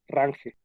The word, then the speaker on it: range: range así se pronuncia a grace jones que se escribe rangel el objeto range así así se escribe entonces